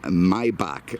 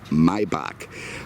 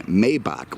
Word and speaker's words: Maybach: Apparently I was saying Maybach. Well, here's the issue in my mind. It's spelled Maybach, okay? If you want something pronounced a certain way, then spell it correctly. If you want it to be Maybach, then get rid of the A in there, okay?